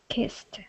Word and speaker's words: kissed: know ok first word how is that pronounced kissed kissed and how many syllables does it have just one just one excellent next word ok